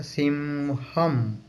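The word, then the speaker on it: സിംഹം: ठीक है ना, तो उसका प्रोनाउंसिएशन है सिम या सिंहम।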